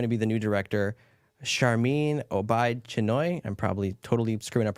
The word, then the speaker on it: Sharmeen Obaid-Chinoy: Here's Sharmeen Obaid-Chinoy.